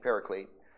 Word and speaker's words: paraclete: and stuff you're going that's not how it's said you don't say pericet we're speaking English okay get over it all right pericet that's what everybody calls it p a r a